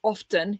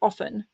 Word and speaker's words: often: say you don't say often you say often for example right that's not the word I used so like you don't pronounce the T and then the other